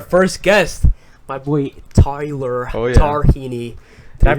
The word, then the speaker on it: Tarhini: we got our first guest my boy Tyler darini did I pronounce that right Tyler oh yeah the last